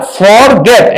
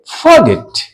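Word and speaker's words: forget: य पर कंसोनेंट है इसलिए इस आर का उच्चारण हम लोग नहीं करेंगे क्या बोलेंगे फॉरगेट नहीं बोल करके फगेट फगेट फगेट माने बोलना फगेट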